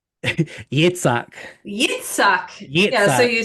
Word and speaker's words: Yitzhak: Um, you have Hedwig taking off the wig and passing on the persona to I'm gonna say that name wrong again. Yishtik? Yitzhak.